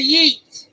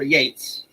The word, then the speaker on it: Yeats: So, And our final one for the day is a Yeats or Yates. We go from Keats to Yates. It rhymes, sort of, impliedly.